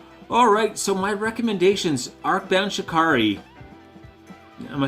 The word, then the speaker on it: Shikari: Arcbound Shikari. Am I saying it right? I always feel like I should say Shakira, but I know that's wrong.